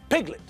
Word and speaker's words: piglet: The apostrophe is in front of the first syllable, which tells us that the stress is on the first syllable. Piglet, not piglet.